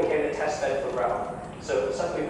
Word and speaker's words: RHEL: The short version is pronounced RHEL.